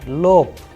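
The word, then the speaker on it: лоб: However the word is ending with be but the sound is coming of p at the end. So the pronunciation is l p at the end. Lope which means forehead.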